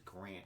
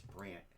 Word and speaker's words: Brandt: said his name wrong i thought it was grant it's brandt he didn't correct me